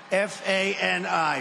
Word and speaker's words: Fani: He worked with Fani, even though it's spelled Fanny, F-A-N-I, Fani.